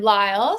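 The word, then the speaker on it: Lysle: to Lyle uh I'm Lyle spelled l Ys l e but the S is silent um and I'm the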